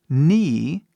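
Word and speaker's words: knee: ni que significa joelho ni novamente o k mudo por último nós temos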